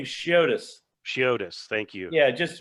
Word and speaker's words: Chiotis: I pronounce his name Chiotis.